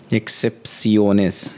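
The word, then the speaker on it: excepciones: इसलिए हम अब एक्सेप्शनंस एक्सेप्ट सीओनेस यही बोलेंगे इसको प्रोनाउंस ही करेंगे एक्सेप्ट सीओनेस अब इसमें लिखा हुआ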